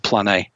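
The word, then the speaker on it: πλάνη: The second word, as I said, is plane, just like it's the word plane, but it's got an E, an accent over the E. So I believe it's pronounced plane.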